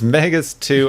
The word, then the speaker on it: Megas Tu: Yep, it's Megas 2. I thought it was, it's spelled T-U, which is a weird, so it's not Megas 2, like, to the Number planet.